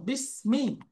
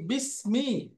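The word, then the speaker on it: بسم: তাহলে এর মধ্যে দেখেন ইসমন শব্দের শুরুতে একটা হামজা ছিল। এই হামজাটা হল হামজাতুল ওয়াসলি বলে অস্থায়ী হামজা। তার পূর্বে শব্দ আসলে অক্ষর আসলে সে হামজাটা উচ্চারণে থাকবে না। এজন্য দেখেন বি ইসমি ছিল হয়ে গেছে বিসমি।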